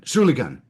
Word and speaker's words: Schulligen: Schulligen with a hard G. Schulligen, yep.